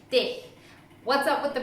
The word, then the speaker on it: dich: Another question that I get asked quite often is, why do you say ish, mish, dish rather than ich, mich, dich? What's up with the pronunciation?